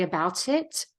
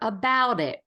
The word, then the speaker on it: about it: the T about it I'm not going to do that I'm going to turn that into a d so that I can really link it together about it about it and the